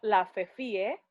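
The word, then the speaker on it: la_fefie: Bueno, yo estoy súper ultra a otro nivel de activa en mi Instagram, que es @lafefie, así se escribe, se pronuncia la Fefi, pero es la Fefie, y entre la y Fefi está el guión bajo, u underscore, guión bajo, guión bajo, Fefi.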